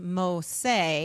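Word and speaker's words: Mose: Well, it was established in 1738 and Fort Mosa, pronounced Mosay.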